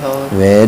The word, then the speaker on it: hour: Again, He has been studying in the library for 3 hours. very good. The pronunciation of your hour is not correct.